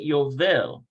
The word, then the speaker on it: יובל: Notice how they pronounce it Yovel. אמא ויובל הבן 3 מדברים. So it's almost like this. So it's like Jubilee. Remember that song, Jubilee, Jubilee, it's the Jubilee.